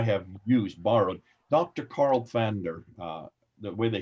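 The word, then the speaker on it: Pfander: Carl Van der the way they say it's a German name that's why it has a P before they have but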